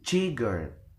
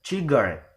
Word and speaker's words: cigarette: We will never uh, pronounce it as cigarette or cigar, but cigarette. like that. So means the word cigarette or the last suffix is given stress.